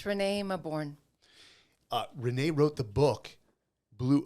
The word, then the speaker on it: Renée Mauborgne: And I'm talking about Renée Mauborgne, and did I pronounce that correctly? I always get that Thanks, one. Mike. Yeah, it's Renée Mauborgne.